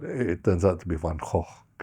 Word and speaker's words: Van Gogh: this is a mispronunciation, Van Gogh, but it turns out to be Van Gogh. If you're speaking Dutch, or depending what language you're speaking, you pronounce the name differently.